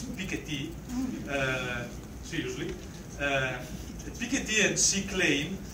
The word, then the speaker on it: Piketty: everybody is equally suffering so the pickety we have pronounced with French accent so it is Piketty filled with the idiocy